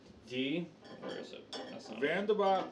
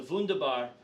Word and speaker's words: Wunderbar: gonna try is called D Vanda bar Pilsner okay you mispronounced it it's the funda bar funda Barfield snare and